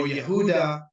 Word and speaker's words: Yehuda: judaic religion judaic or Yehuda that is the correct pronunciation with the Y not with the J because there's no J in Hebrew what is happening is